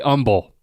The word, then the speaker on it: humble: I'm very humble. Yeah, I think it's a Southern thing to mispronounce the word humble. Yeah, with a silent H.